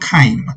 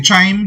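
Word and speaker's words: chyme: going to mix it up into something called Kime CH y m e some people say chime the real thing is pronounced K CH y m e and what's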